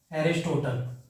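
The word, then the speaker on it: Aristotle: ठीक है, इंग्लिश में अरिस्टोटल बोला जाता है, मतलब अगर आप प्रोनाउंसिएट करो तो एरिस्टोटल।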